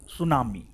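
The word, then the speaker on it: tsunami: आइए अब हम लोग पढ़ते हैं सुनामी को सुनामी टी साइलेंट है समझे ऐसा नहीं कि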